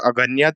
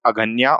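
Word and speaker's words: Aghnya: The correct pronunciation of cow was Aganya. They used cow as Aganya, or they used to pronunciate cow as Aganya.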